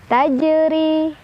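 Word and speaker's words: تجري: Tajri, ro-nya dibaca secara tarqiq karena ro-nya barisnya di bawah. Jadi ini ditipiskan. Tajri, ri mad tabi'i karena ada ya sukun sebelumnya kasrah di ro, dibacanya panjang 2 harokat.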